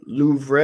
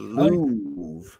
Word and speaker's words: Louvre: All right, the Louvre is located in which country?